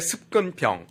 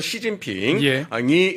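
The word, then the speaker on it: 习近平: 그런데 그것이 2010년대 들어서 중국의 습근평, 중국식 발음으로는 시진핑이 집권하면서 노골화된 겁니다.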